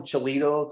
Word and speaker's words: Cholito: So we call him Cholito because it rhymes with burrito.